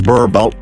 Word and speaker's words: Boerboel: In the Afrikaans language, the name Boerboel, pronounced as Boerboel, translates to farmer's dog.